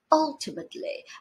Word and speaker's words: ultimately: apparently inevitably remarkably supposedly ultimately as you can see the last one is the only one with the stress on the first syllable the others have it